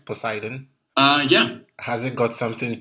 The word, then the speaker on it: Poseidon: Am I pronouncing it right? Poseidon?